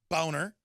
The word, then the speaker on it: Boehner: a clear and present danger our government Boehner boner it's his real name why not just pronounce it you're like if I said my